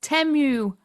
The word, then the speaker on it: Temu: The Super Bowl commercial for that app, Temu, whatever, they said it's pronounced Temu.